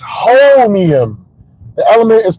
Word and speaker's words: Holmium: Homium. Okay, let me Google this real quick. I'm gonna Google it real quick. I'm gonna come back. Okay, I was pronouncing it wrong. It's Holmium.